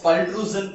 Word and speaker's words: pultrusion: a pool and extrusion so you can uh pronunciate this process as a pool and extrusion that is pultrusion process so in the